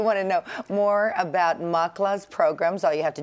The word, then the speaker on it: MACLA: you if you want to know more about makala's programs all you have to do is log